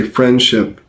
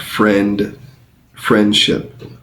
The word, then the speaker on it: friendship: duh donate versus friendship when you say friendship the D is basically silent um you still pronounce it just a little bit but you pronounce it um transitioning between the n and the S sound friend ship friendship so you can only barely hear it and if you're not